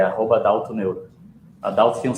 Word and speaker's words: Adaucto: A Dalto tem um C mudo ali, não sei que não se pronuncia. Não é Dalton? Mas a Dalto que não se pronuncia, o C não se pronuncia, né?